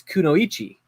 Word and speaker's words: kunoichi: it you can okay Curtis told me the other day he said it's kunoichi and I said well